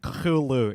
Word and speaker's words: Cthulhu: Cthulhu. Yeah. Nahirapan kami doon. Yeah, nahirapan kami Yeah, actually, pronounce. it's a very weird pronunciation. Cthulhu. Yeah, that's how to say it, everybody.